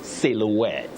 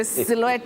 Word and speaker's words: silhouette: that is the way to pronounce it silouette not s not you simply say silhouette silhouette I like the way